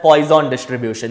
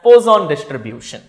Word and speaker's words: Poisson distribution: The third concept is called as Poisson distribution, or some call it as Poisson distribution. That is left to you the way you pronounce it. I will tell it as Poisson distribution.